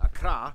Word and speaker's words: Accra: that's how you pronounce it, Accra, located in the southeast along the coast.